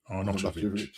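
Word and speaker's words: Arnautović: Arnautovic. That's it. Yeah, you pronounce it right.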